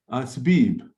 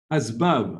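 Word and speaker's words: أسباب: Okay, the last word here is Asbib. Try again, please. Now on this, remember, on the first ba, you have a fatha. Asbab.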